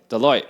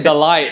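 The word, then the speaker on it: Deloitte: Deote. Thank you. Deote. I was going to say Delight and I'm like that doesn't sound right.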